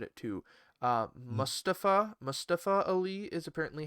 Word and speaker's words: Mustafa Ali: commentary and he said it too uh mustafa mustafa ali is apparently how it's supposed to be pronounced i'm just finding out so well i've